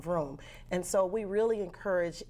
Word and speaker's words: Vroom: It's Vroom. It's really Isn't that the way it's intended? That's the way it's spelled, right?